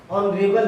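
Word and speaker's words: honourable: जैसे ऑनरेबल मैन, ऑनरेबल, यहां पे भी हम लोग एच से शुरू है, इसका प्रोनाउंसिएशन आ हो रहा है जो कि वॉवेल है, और इसके पहले हम लोग जो है आयन का इस्तेमाल करेंगे।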